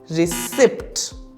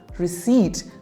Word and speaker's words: receipt: you pronounce this one reip the correct pronunciation is receit repeat after me receipt we were asked to